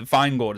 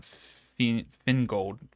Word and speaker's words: Feingold: So the Feingold is how you say it, not Fingold.